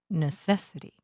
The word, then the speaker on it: necessity: The stress for these suffixes happens on the syllable just before this two-syllable suffix. Listen. Moral, morality. Objective, objectivity. Necessary, necessity.